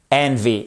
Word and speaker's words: envy: de Shakespeare c'est l'envie to be green with envy et on fait bien l'accent tonique sur la première syllabe je suis vraiment désolé